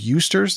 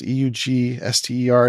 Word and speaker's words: Eugster: It's not cool to drag me along, but I remember, is it pronounced Eusters? Eugster.